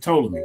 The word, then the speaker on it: Ptolemy: He said, "Oh, Jay Shank said don't pronounce the P. Just call it Ptolemy."